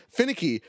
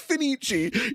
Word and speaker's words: Fenichi: He goes like, "By the way, finicky, your mic sounds amazing." And I go, "Thank you. Also, now's a good time to tell you it's Fenichi. You said it wrong every time and we just died laughing.